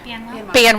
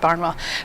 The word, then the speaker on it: Banwell: Banwell. I almost said Barnwell.